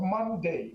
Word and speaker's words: Munday: If you look at a case of Monday, which is spelled Munday, which is a 2019